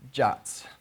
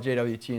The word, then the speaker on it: JWT: I used to call it JWT until Derek called it jot and it was like, oh, jot. Okay, I guess that's what it's called. But yes, technically it's pronounced jot.